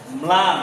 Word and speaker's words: ম্লান: Plan ময়ের আর লয়ের অর্ধেক উচ্চারণ হবে।